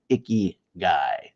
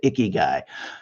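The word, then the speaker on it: ikigai: a word called ikagi which we pronounce icky okay the icky guy so icky which roughly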